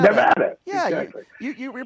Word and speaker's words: Nevada: it right I think I'm saying it yeah Nevada Nevada yeah ex you you you're pronouncing it correctly Mr President you got that